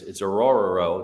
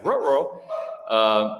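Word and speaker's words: Orhorhoro: Rook Orororo, and I know that sounds like Scooby-Doo, but it's Orororo. That is his name. That's how you pronounce it. I looked it up. Yeah, Orororo.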